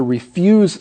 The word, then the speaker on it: refuse: word re fu se as a verb to refuse somebody but here it's a noun and it's pronounced refuse someone's trash aha that's right moving